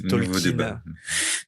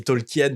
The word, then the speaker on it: Tolkien: En anglais ça se dit Tolkin. En fait, en français, on dit Tolkien parce qu'on le lit Tolkien, mais en anglais son nom se prononce Tolkin.